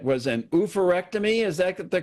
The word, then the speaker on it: oophorectomy: Now, the procedure you underwent, and I hope I'm pronouncing this right, was an oophorectomy. Is that the correct pronunciation?